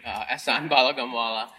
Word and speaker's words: Ehsan Balagamwala: I will say my name right, Ehsan Balagamwala.